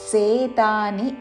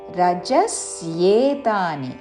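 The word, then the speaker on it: रजस्येतानि: స్పృహా కర్మణామశమస్పృహా రజస్యేతాని జాయంతే రజేతాని అని సేతాని అనకూడదు రజస్యేతాని జీద ఆఘాత పక్కన స కి య వత్తు య వత్తు చక్కగా వినపడాలి రజస్యేతాని రజస్యేతాని జాయంతే య మీద ఆఘాత జాయంతే రజస్యేతాని జాయంతే వివృద్ధే వివృద్ధే ద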